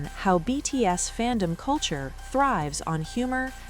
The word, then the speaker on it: 非: The Hanja character phi is pronounced B, a sound that closely resembles the pronunciation of the letter V in Korean.